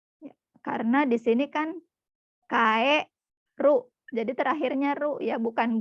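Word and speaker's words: 帰る: Tapi ada yang harus diperhatikan yaitu ini, kata kerja ini dibacanya kaeru. Kaeru artinya apa tadi Maulidatsang? Kairu pulang.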